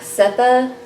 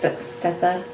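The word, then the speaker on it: Sethe: I said Setha. I don't know how to pronounce it. I think it's Setha, because Sue told me that she thought that was true also.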